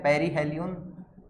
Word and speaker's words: perihelion: तो यहां पर इसको तो हम बोलते हैं पेरीहेलियन, और इसको बोलते हैं हम एपीहेलियन।